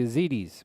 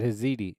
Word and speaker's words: Yazidi: ones genocides of the yazidis by the Islamic State that's what I was just talking about I said Heidi I said it the wrong way my bad I I pronounced it with an H zidi um yeah Isis